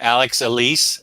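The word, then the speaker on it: Alex Alice: absolutely gorgeous and I'm so so absolutely your pronunciation was right the first time Alex Elise okay good yeah so I highly highly highly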